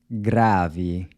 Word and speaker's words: grave: Grave. The “e” is pronounced like an “e” sound as in “see”.